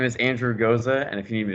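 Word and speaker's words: Gocza: It's spelled very weird. Yes. Yeah, G-O-C like cat, Z like zebra, A, G-O-C-Z-A. It's I don't know. Don't ask me why it's pronounced that way.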